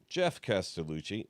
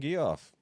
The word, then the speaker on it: Geoff Castellucci: this I'm scared so it is Jeff calucci see I know how to say his name VPS it's Jeff but I like saying gu off I don't do it